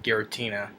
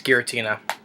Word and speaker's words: Giratina: And I pronounced I did pronounce the name right, Giratina. Um, because like I said, I couldn't see from that far what the name was. So yeah, it's Giratina.